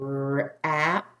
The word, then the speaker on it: wrap: chewing and chewing 10 sounds let's blend we wrap wrap one more like this knob if a